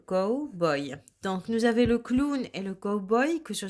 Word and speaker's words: clown: ww2 ici nous avons le clown ans le clown donc ici au w on va là prononcé comme si on avait un ou deux corps le clown ont donc je vais écrire encore une fois